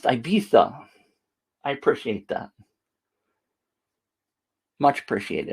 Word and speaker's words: Ibiza: Keith says it's pronounced Ibiza.